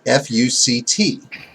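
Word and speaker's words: FUCT: of society the name is supposed to be pronounced fu c t mm-hmm but we of course immediately when you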